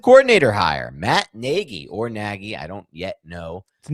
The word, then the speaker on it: Nagy: Today we are here to break down the Giants offensive coordinator hire Matt Negi or Naggie. I don't yet know. The correct way to pronounce it what? Negi.